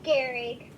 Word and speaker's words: Gehrig: but wait here came blue silent h imagine that e h is telling us it's a short e sound so put a short e sound there everything else is exactly the same eric daring eric garrett